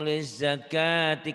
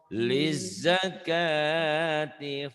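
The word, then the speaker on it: لِلزَّكَاةِ: Walladzina hum lizakati, kan wawnya tak ada tanda.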